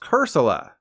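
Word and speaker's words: Cursola: is pronounced corsola and its evolved form is pronounced cursilla wait cursilla doesn't have the word soul in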